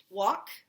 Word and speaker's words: walk: sight words really quickly walk remember our silent l here walk w is being tricky with a there walk could want her